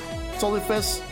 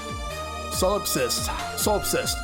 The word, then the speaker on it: solipsist: So I take it the Solifist problem got solved? I don't know how come I can't pronounce that. Solipsist.